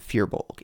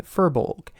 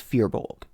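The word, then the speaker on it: firbolg: pron pronunciation of fearbulg I have always said fearbulg in this script for some reason I have been saying furbolg it's not it's fearbulg anyways back to the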